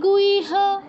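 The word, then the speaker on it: গুহ্য: বুদ্ধিমান কৃতকৃত ভারত ইতি গুইহ ইতি গুইহ এখানে হ এর পর যে ইয় আছে ইয় টা আগে উচ্চারণ হবে সাধারণত যুক্তাক্ষর উচ্চারণের নিয়ম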